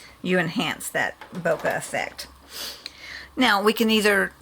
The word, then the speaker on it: bokeh: Bokeh, I believe, is the correct pronunciation.